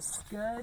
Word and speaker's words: scud: It rhymes with stud. Stud. He was the scud stud.